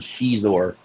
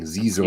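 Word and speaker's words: Xizor: Everybody I knew pronounced that word Shizor. I didn't know how to pronounce it. I was like saying Zizor.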